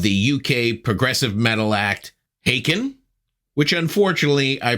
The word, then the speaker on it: Haken: Ross Jennings of the UK progressive metal act Aiken which unfortunately I pronounce hacken at the beginning of our interview and I